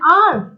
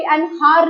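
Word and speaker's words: hour: vowel की आएगी like एन आर एन आर बोला जाता है एच वर्ड जो है वो साइलेंट हो जाता है हम इसको कभी एन हार नहीं बोलते हैं हम आर ही बोलते हैं या एन ऑनेस्ट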